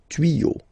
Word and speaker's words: tuyaux: Des tuyaux, same rule, you don't pronounce it.